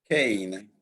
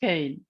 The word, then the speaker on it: Kain: What do the Italians say, Luca? Cain. Cain. Oh, so sorry, Cain. Okay. No worries, so it's fine. It's pronounced Cain.